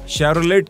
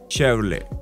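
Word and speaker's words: Chevrolet: उच्चारित करें चेहरे को लोग अक्सर शैरोलेट कहते हैं लेकिन असल में क्वर्टी साइलेंट होता है इसका सही प्रनंसीएशन है शैवरले ओर स्कोडा के नामों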